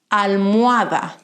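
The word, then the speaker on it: almohada: middle of the world like in sanaoria carrot almoada pillow albaca basil always silent and that's how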